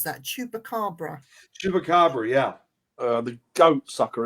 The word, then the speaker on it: Chupacabra: It looks like a bit like how do you pronounce that? Chupacabra.